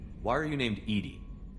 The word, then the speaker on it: EDI: Why are you named EDI? EDI is the phonetic pronunciation of EDI. That is an acronym for Enhanced Defense Intelligence.